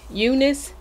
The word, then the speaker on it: Unice: means as another wig review and this company eunice i think i'm pronouncing it right was kind enough to send